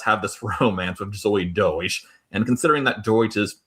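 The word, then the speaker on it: Deutch: Deutsch.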